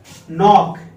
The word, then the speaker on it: knock: Okay दोस्तों, now third sentence is knock, K N O C K, knock। यहां K silent क्योंकि ये N से पहले आया हुआ है तो हमारा प्रोनंसिएशन यहीं